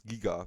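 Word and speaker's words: Giger: Alien Geiger. Next room, alien Geiger room. Thank God you said it right. Let's well, no, actually not. It's Giga because he's from Switzerland.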